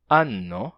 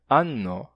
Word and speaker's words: anno: E para a palavra anno, a pronúncia é anno em italiano. Anno, com N duplo.